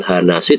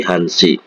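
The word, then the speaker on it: 한시: Hana ya tapi kalau jam 1 bukan hanasi tapi hansi jam 1 tu hansi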